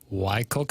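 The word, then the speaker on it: Whycocomagh: You should see how it's spelled Y. It's spelled wh Y C O M A G H. Y Cook.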